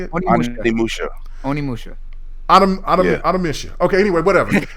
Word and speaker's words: Onimusha: Onimusha.